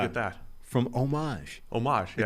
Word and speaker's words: Homage: Homage, yeah. The great people at Homage, which I'm reliably informed that's how you say it over here.